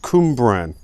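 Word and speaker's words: Cwmbran: It says here, it's pronounced Cumbran. It's quite an easy one, really.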